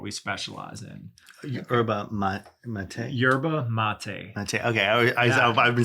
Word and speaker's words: yerba mate: Yerba Mate.